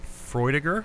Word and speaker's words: Freudiger: Freudiger.